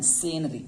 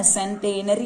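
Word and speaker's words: centenary: सेंटेनरी लिखा गया है, सेनरी बोलेंगे, ठीक है ना। टी साइलेंट है यहाँ पर। सेनरी क्या बोलेंगे बच्चों, सेनरी, ठीक है ना, सेंटेनरी नहीं बोलेंगे।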